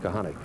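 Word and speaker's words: Kochanik: K-O-C-H-A-N-I-K, pronounced Kahanek. Right.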